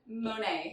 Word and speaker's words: Monet: messaged him and I was like, how do you say your last name? Yeah. Because I was like, what if it's like Bonnet? But Yeah. it's not. It's Monet. Monet.